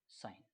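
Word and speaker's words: sign: ये कहता है कि जब भी जी एन आए तो जी साइलेंट हो जाता है इसीलिए हम इसको क्या पढ़ते हैं साइन यकीनन आपको ये वीडियो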